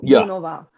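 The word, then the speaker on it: Junová: Let's start out with Teresa Junova. Do I have that pronunciation correct? Oh, actually, in Czech we say it like Junova.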